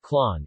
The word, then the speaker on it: Klon: Klon, or Klon, pronounced Klon, is a Papuan language of the western tip of Alor Island in the Alor Archipelago of East Nusa Tenggara, Indonesia.